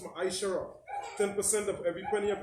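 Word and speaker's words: מעשר: It means 10 in Hebrew and it's pronounced ma'aishara.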